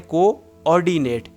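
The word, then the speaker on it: coordinate: अच्छा जी, अगर आप स्मार्ट हैं तो आपने ये बात रियलाइज़ की होगी कि कोऑर्डिनेट की स्पेलिंग में डबल ओ होता है। ऐसे इसको पढ़ें, कोऑर्डिनेट, कोऑर्डिनेट।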